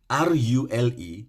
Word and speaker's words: rule: But that one, R-U-L-E, now rule.